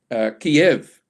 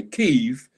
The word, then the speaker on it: Kyiv: So in this last year, we've seen that Kyiv was always pronounced as Kiev before the Russians invaded. So the Ukrainians said, no, we don't want the Russian pronunciation, we want our Ukrainian pronunciation. So now when you hear the news, you will generally hear newsreaders say Kyiv rather than Kiev.